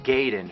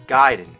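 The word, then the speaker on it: Gaiden: here we're talking ninja giden everyone always said Ninja gayen but I know for a fact it's giden you know where I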